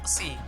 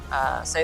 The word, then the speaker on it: Psy: Sci itu kan tulisannya PSY ya. Iya. Jadi kita jangan sampai nyebutin pesi. itu ya nggak masalah sih ejaan bahasa Indonesia, cuman lucu aja gitu. Sci. Jadi Sci itu artinya kan kita ngambilnya dari psycho, psikologi.